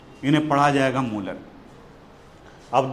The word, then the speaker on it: molar: और इनका प्रोनाउंसिएशन होता है मोलर। इन्हें पढ़ा जाएगा मोलर।